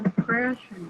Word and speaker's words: depression: say it the prayer depression depression depression the depression so the second syllable is stressed right the breath so